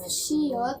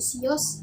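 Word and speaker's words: 시옷: Jadi kalau misalnya ada huruf shiot yang digunakan di akhir silabel seperti ini, maka akan dibaca sebagai T, bukan dibaca sebagai S. Jadi kalau dibacanya sios, salah. Jadi dibacanya harus shiot.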